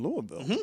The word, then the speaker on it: Louisville: Louisville, one syllable. Oh, Louisville. Oh, maybe two. One.